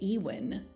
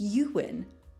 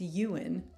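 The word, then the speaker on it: Ewan: McGregor's catcher block I used to say ewin McGregor it's euan but yeah did anyone else say ewin or maybe this is your first time realizing it's Yuan isn't that crazy watch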